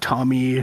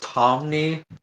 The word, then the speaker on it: Tomney: We got Angie, our local Australian, Siren, our local Tommy twin, and we have the Greek god of Survivor joining us today, E.G. Hello. Civ, I have to say it's pronounced Tomney.